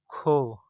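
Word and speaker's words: 코: Kho. This is our aspirated consonant. Kho.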